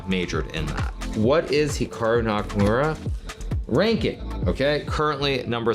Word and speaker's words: Hikaru: to pronounce Hikaru nak now even myself when I pronounce my name it's definitely more Americanized versus Japanese certainly if I was pronouncing it correctly it would be more like Hikaru as opposed to Hikaru but I've spent so much of my life here in America that that's just how I pronounce in everyone does the same thing is Hikaru